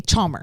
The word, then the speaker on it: Chalmer: Chalmer. You said it right.